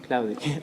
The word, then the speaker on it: Klavdij: How do you pronounce Klavdij. Klavdij, all right.